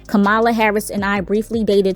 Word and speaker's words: Kamala: good to know that her name is not pronounced kamala it's kamala back then he was the famous one and